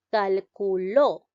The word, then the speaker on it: calculó: ¿Dónde lleva la mayor fuerza de voz la palabra calculó? ¿Dónde? En la sílaba lo.